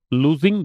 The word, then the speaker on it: lose: LOSE जो है इसका उच्चारण है लूज, इसका उच्चारण है लूस, और इसका है लॉस।